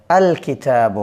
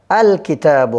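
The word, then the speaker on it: الكتاب: আলিফ লাম এটা আলাদাভাবে উচ্চারিত হবে, আল কিতাবু হবে। কেমন? কিতাবুনের সাথে আলিফ লাম যোগ করলে আল কিতাবু হবে, আল কিতাবু।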